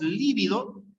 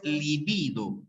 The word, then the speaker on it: libido: Pero date cuenta en la pronunciación. Una cosa es líbido y otra cosa es libido, ¿ya?